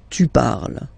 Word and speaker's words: parles: So you've got the two first forms, you pronounce them the same way. You write them differently, of course, because you've got here and then you've got and s, okay, but then phonetically they are the same.